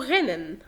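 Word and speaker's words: rennen: كنت بقول لو حرف الار جاء بعديه حرف متحرك ينطق غين، غير كده بينطق ره عادي زي غوت او غنن.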